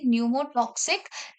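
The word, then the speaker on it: Pneumotaxic: उसको हम बोलते हैं न्यूमो टॉक्सिक centre sorry न्यूमो टॉक्सिक centre ठीक है न्यूमो टक्सिकी फॉर पनस पी फॉर न्यूमो टक्सिकी silent है जब हम प्रंस करते हैं बट पी स्टार्टिंग में है पी फॉर पस पी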